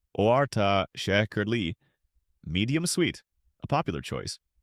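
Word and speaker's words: orta şekerli: For the purists, az shekerli, ahz shekerli, with just a little sugar, orta shekerli, orta shekerli, medium sweet, a popular choice, or çok şekerli,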